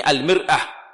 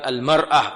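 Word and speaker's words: المرآة: Ini al-mir'ah. Bacanya bukan al-mar'ah. Kalau al-mar'ah seperti wanita yang bersih. Salah. Ini bukan wanita, Mas. Ini cermin.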